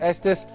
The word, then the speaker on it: Estes: that's right Shaykh Yusuf Estes assalamu alaikum say yesterday Kuntz an aromatic shake how did you your your last name rhymes with the state you come from estes texas texas missouri is saying my